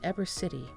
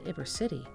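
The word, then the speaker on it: Ybor City: ibra city the cuban sandwich which is now pronounced eber city rather than iber city is claimed to reflect the bulk of the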